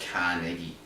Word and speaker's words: Carnegie: Where am I putting the stress in this word? Carnegie. I don't know. Or Carnegie. How do you say it correctly? Australian, it's Carnegie.